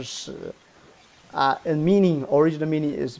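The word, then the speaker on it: 豕: It's another character called pronunciation shi.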